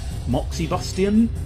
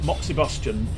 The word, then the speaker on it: moxibustion: bus I don't know I pronounce it Moxie Bastian moxie bust Junie Bostjan it's probably Boston as in combustion Moxie Bastion I don't know if you'd pronounce the ex quite so distinctly there but moxibustion is sort of